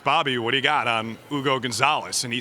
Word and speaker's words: Hugo Gonzalez: as anyone scooped the pick and I see Hugo Gonzalez and I'm like, who's Hugo Gonzalez? Where is this pick coming from? Then I realize that it's actually pronounced Ugo Gonzalez, at least if we're taking Adam Silver's word for it.